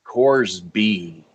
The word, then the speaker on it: Corsby: your last name um how many cores are there in apple course b cores b cores b okay all right give it